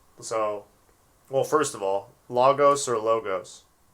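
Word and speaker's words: λόγος: well first of all logos or logos the accent is over the first omicron so it would be lagos lagos so i've been saying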